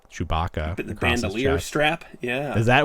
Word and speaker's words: bandolier: figure, but you can see he's wearing the bandola, like Chewbacca. The bandolier strap. Yeah. Is that how you pronounce that?